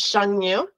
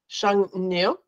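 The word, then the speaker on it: Xiongnu: What is the connection between the walls and this is really kind of the way it's pronounced is Shengnu. Shengnu.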